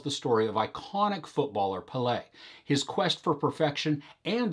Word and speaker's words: Pelé: learned immediately is that i've had the emphasis on the wrong syllable my entire life this documentary tells the story of iconic footballer palais his quest for perfection